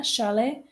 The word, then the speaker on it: chalet: mansion beach house ranch Chalet so we have the the French pronunciation there Sharlee and penthouse so please